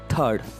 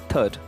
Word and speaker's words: third: th I or D I heard most of the people pronouncing it like third it is not third or third it is third so please mute or here so for the pronunciation I am giving another spelling here that is th ad so how do you pronounce this third it's right way of pronunciation is third next one so before